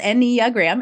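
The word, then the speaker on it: Enneagram: out of your mouth so it's four syllables n gram if you're listening uh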